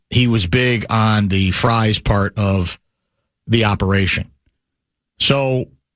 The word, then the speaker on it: Fries: fries will fries and it is pronounced fries not freeze that's what I heard